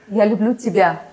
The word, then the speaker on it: Я люблю тебя: So what is the correct pronunciation of that word? Я люблю тебя.